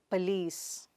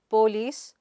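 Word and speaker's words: police: The next word is Pah-lees. It is not Poo-lice, but Pah-lees. The stress is not /l/ there.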